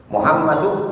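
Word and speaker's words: محمد: Misalkan Muhammadun, jangan antum tanwin, Muhammadun, ya, jangan ditanwin. Muhammadu ibnu Abdillah.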